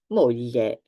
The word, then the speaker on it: moglie: Moglie, wife. So sound ye. Aglio, famiglia, moglie.